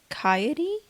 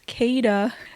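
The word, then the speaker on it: Khaede: watching her best friend kot I think that's how you pronounce that oh no never mind it's kayada had to consult the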